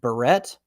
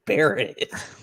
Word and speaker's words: Barrett: and he's like is your last name pronounced barrette or beret i look straight at him stone cold and i'm like it's buried like how did you